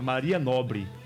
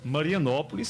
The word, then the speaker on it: Marianópolis: mais antigos em Caiçara por não entender essa pronúncia chamava Maria Nobre mas era marianópolis seria Caiçara seda raiz